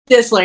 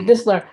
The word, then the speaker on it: Distler: Distler, yeah. Think of Distler, like okay. whistle. T is silent, yeah. Okay, Distler.